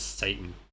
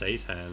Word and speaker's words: Seitan: his name was just seitan and it was like a joke because it's close to Satan I think he actually just pronounces it yeah yeah just call it how it's spelt announcer the way that